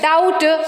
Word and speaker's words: doubt: You observe here Deb doubt subtle B comes before T there so B is silent in that kind of